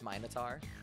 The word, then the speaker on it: Minotaur: know how to impress it might be like an actual Greek it's minitar it's original Greek pronunciation that's original Greek I